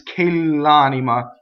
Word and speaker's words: quell'amor: It's qquell'amor. So the word K is a strong monosyllable.